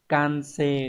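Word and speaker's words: 完成: Như vậy hoàn thành đọc là can-se đúng không nhỉ?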